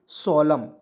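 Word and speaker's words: solemn: दिमाग में कुछ आ रही है इसे पढ़ेंगे सोलम ठीक है तो से होता है स लिखेंगे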